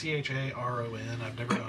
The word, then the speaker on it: Charon: It's Charon. I've never known how to pronounce it because Okay.